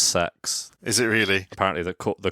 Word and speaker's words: CeX: It's actually pronounced sex.